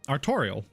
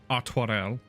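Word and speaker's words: Artoirel: I've been saying his name wrong the entire time. I was like, "Ah, Arttorial." Arel. Okay. It's a very like French Artel.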